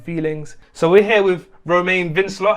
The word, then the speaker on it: Romain Vincelot: so we're here with Romain Vince law have I got your name pronunciation right yeah yeah maybe I should have tried it with a bit more of a French accent I did French at